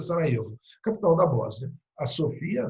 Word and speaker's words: Sarajevo: O arquiduque está indo visitar a cidade de Sarajevo, né, escreve Sarajevo, o J pronuncia Sarajevo, capital da Bósnia.